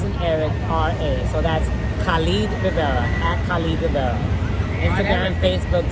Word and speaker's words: Khalid Rivera: It's at Khalid Rivera. I'll spell it Khal as in Larry, as in David, RIV as in Victor, E as in Eric, RA. So that's Khalid Rivera, at Khalid Rivera.